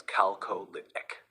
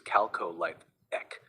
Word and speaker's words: Chalcolithic: The word chalcolithic is pronounced as calcolithic. Chalcolithic or calcolithic, what is correct? The correct pronunciation is chalcolithic, which is calcolithic.